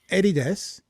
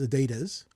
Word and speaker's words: Adidas: you pronounce it is Adidas which is the way the rest of the world pronounces it would it be an attack on one's uh virtue to say oh it's pronounced Adidas you know if Subaru